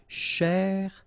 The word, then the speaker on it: chercher: So you get chez, all right? So chercher, chercher, okay?